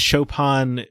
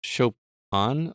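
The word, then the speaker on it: Chopin: a very thorough imagination is it pronounced chopan I've been pronouncing it chopan my entire life that game say shopan about 1900 times so I guess uh shopan got stuck in my head but yeah it is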